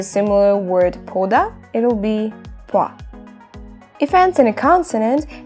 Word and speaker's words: 봐: We eliminate 다, we add a, and it's gonna be 보아. But we don't say it like that because o and a, they merge into a diphthong. So it's gonna be 봐.